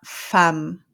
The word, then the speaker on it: femme: Okay, now we have a few words ending in emme, and for a few of these words, you're not going to pronounce the E here or the nasal sound. You're going to pronounce this as a. Okay, so here it's we have the woman and we say la femme.